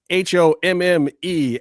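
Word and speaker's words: Homme: That's h o mme f- a ce.comface. It's French, guys. The h is silent.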